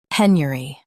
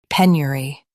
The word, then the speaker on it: penury: penury Now, read the syllables of British pronunciation shown on the screen naturally. pen yuh ree penury pen yuh ree penury US says yer. UK says yuh in ree.